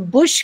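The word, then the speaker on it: bush: अब देखो रश ब्रश लेकिन बुश की स्पेलिंग सेम है लेकिन प्रोनंसिएशन चेंज हो गया।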